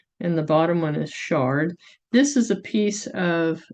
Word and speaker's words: Chard: she's a czt and this one is called Shard by Linda Farmer czt she names all of her patterns after wine so this is like Chardonnay so that's how you would pronounce that one so we are going